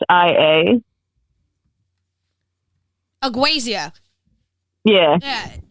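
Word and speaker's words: ageusia: still don't know how to pronounce it all spell it for me a g e u s i a aasia yeah yeah aazia the loss of sense of taste I don't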